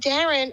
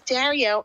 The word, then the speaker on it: Dario: And she kept on mispronouncing a name, and then finally she goes, "And Darren." And I said, "No, the name is Dario."